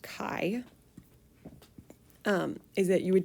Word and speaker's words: chi: um this is the chi-squared and it is pronounced chi um is that you would take the sum